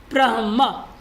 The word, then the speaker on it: ब्रह्म: ब्रह्म, ये बड़ा मुश्किल होगा ना, जिन लोगों के भाषा में संयुक्त अक्षर उच्चारण करना नहीं है, उनके लिए ब्र भी संयोग, म भी संयोग कर दिया आपने। बड़ा मुश्किल होगा ना उच्चारण करना उनको। पंजाबी भाषा में विशेषतर आत्म ज्ञान बोले, आत्मज्ञान नहीं बोलेंगे। इसको क्या बोलेंगे? वो ब्रह्म तो बोल नहीं पाएंगे, बारहम बारहमा ऐसे कुछ बोलेंगे उल्टा सीधा।